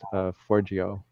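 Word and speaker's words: Forgejo: Right now it's a soft fork called Forgio. The Yo part is spelled J-O.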